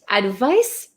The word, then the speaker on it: advice: it's so tricky right advice has an S sound but it's spelled with a c advise has a z